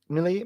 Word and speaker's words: Millie: Millie. I try to pay attention to how the sisters actually pronounce their names, and it sounds just like Millie to me.